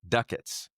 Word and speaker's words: ducats: And then they recommend it's pronounced ducats. Ducats. Yeah. They typed it as DUCK-ITS.